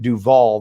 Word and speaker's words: Duval: west called duval street duval they pronounced like robert duvall and the idea it's